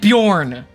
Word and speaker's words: Bjorn: couple of swings and you're mispronouncing my name I said Bjorn you said born the first time so he tries he